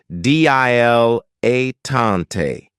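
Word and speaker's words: dilettante: of my favorites is diletante this word has three syllables and there's kind of like a stress on the first and last syllable D L A tante the reason I say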